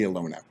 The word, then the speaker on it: Ilona: a multiple best-selling author elona i have so much trouble pronouncing your last name she's like just call me alona it's like beyonce and michael butler michael